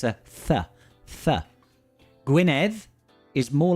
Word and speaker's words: Gwynedd: How would I pronounce Gwynedd? Would it be like Gwyneth? No, not quite, Andrew. Similar, very similar.